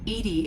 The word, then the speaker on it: EDI: Edy is the phonetic pronunciation of EDI.